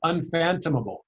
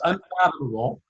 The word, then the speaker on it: unfathomable: He kept saying it's unphantomable. I mean, he sounded like he was from Scooby-Doo. It's unphantomable. No, it's unfathomable.